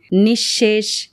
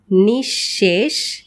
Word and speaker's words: নিঃশেষ: তবে পদের মধ্যে যদি বিসর্গ থাকে তাহলে বিসর্গ পরবর্তী ব্যঞ্জন বর্ণটি দ্বিত উচ্চারিত হয়। যেমন নিঃশেষ নিঃসন্তান, নিঃসম্বল।